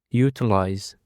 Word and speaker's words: utilize: And for the next to it, we have utilize. The stress is on the first syllable.